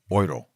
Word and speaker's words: euro: you referring to Oro, and I've been told today, you correct me, Lenny, Euro or Euro? Euro. Okay, so I've been mispronouncing it. Like Thank you.